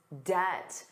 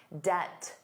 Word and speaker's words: debt: But he has to manage his debt, the total amount of money he owes. And notice that pronunciation. Did you notice the B was silent? Debt, debt, debt.